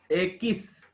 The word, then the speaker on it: equis: Ekis. Ekis. U Ekis. together pronounced as K. That is as per rule of pronunciation. Q plus U is pronounced as K. E is pronounced as A.